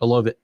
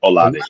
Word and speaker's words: Olave: Olive, say it again. Olive. Olave.